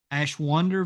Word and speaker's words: Ashwander: can get anything done ashwander versus Tennessee Valley Authority it's spelled a s h like ash from a fireplace Wonder w-a-n-d-e-r like wander through the desert Ash wonder versus Tennessee Valley Authority